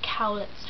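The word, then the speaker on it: Kaulitz: Cowlitz. I keep saying it wrong, it's Cowlitz twins.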